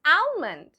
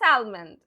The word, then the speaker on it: almond: No, my dear, it's not almond. Why? Because there is a silent letter. And what is that silent letter? L. The L over here is silent. So how do we pronounce it? It's almond. Almond.